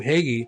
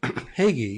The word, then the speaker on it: Hagy: And I said my name, Hegy, and I had the interview and and somebody kept coming out and asking me my last name and could you spell it? I'm like, Hegy, you know, H A G Y.